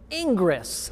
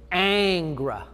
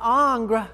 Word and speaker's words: Ingres: of the way there ingress it looks like ingress but it's a french word and it's pronounced angra angra angra i'm not